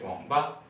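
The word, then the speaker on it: 网吧: The third tone is usually not pronounced like wang. In fluent speech, just make sure it's slow. So it's like wang. Okay, wǎngbā, wǎngbā.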